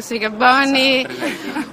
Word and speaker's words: Sikabonyi: Giorgio Marchesi, Margo Sigaboni.